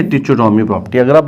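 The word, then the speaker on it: trichotomy: तो पहली प्रॉपर्टी का नाम है लॉ ऑफ ट्रिकोटोमी, ठीक है, ट्रिचो नहीं बोलना है, CHO नहीं बोलना है, ट्रिको, H silent, law ऑफ ट्रिकोटोमी।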